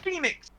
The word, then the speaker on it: Fenix: how it's spelt yes but it's still pronounced Phoenix anyways besides the point